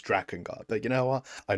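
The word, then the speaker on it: Drakengard: You know, Draken Guard is the wrong pronunciation. It's Dragon Guard, but you know what?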